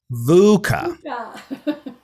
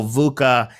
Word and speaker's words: VUCA: saying it correctly and it's an acronym uh vuca and that is v-u-c-a it's an um which